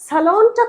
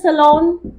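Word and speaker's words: salon: সালনটা কোথায়? ওয়ের ইজ দ্য সালন? ওয়ের ইজ দ্য সালন? সেলুন না, pronunciation সালন।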